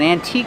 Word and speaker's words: antique: We found an antique store. They sell antiques. Remember, the E is silent. We don't say antiques, we say antique.